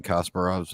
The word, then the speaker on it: Kasparov: Wait, Tim, you're Ukrainian and you're mispronouncing Kasparov's name.